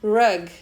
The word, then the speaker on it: rug: Isso porque tapete se pronuncia rug, que é R-U-G, e abraço é hug, H-U-G.